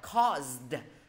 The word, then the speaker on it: caused: được Gây chưa ra đúng rồi, gây ra đọc là caused.